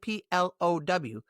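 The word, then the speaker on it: plough: In the U.S., we pronounce it P-L-O-W. But if you see it in reading, you'll know how to pronounce it. It's plow. It rhymes with cow.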